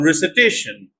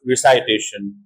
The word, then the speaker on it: recitation: to realize and even in the noun form they pronounce like I for example verb invite noun invitation not invitation like many people say verb expire noun expiration not expiration verb recite noun recitation not recitation similarly verb